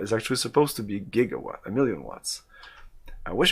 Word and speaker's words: gigawatt: it in the script so jigawa is actually supposed to be gigawhat a million watts i wish it was that